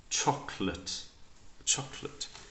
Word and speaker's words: chocolate: it's the schwa sound remove the vowel and try and say the two consonants together like we've done here